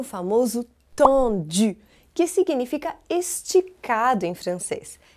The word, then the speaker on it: tendu: Mas aqui no Brasil eu ouço muitas pessoas dizerem tendi, o que tudo bem também, não tem problema nenhum. Mas caso você queira saber como é a pronúncia original, é tendu.